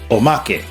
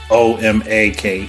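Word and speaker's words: omake: lot of people are inferring that o means Omak which is o m a k e I hope I pronounced it correctly I know Japanese phonetics generally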